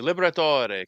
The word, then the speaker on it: Liberatore: I want to say as an Italian, I wish they would pronounce it the classic Italian way. Let's hear it. And people want to keep it easy. Liberatore, come on.